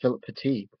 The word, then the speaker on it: Philippe Petit: friedrich pitta phil pitti i think it's pronounced philip petite there was a young